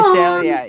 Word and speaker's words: Visalia: Visalia, yes. I'm going to channel Mom. Can you tell me how to pronounce that?